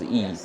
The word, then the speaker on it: Yi: a yeah we open source and uh large model called e Yi uh spell uh the pronunciation is e yeah e is in Chinese is one E